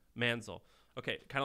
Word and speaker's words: Manzil: the name of this company man's oh man spell it ma n zi l Manzel okay kind of like what manzil did a